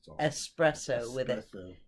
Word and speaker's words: espresso: least the better coffees espresso yes there's no x in in espresso he cannot be counted